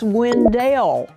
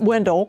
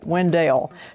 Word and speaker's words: Wendell: It's Wendell, pronounced not Window, Wendell.